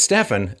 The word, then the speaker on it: Stefan: Is your name pronounced Stephen or is it Stefan? Well, it's Stefan.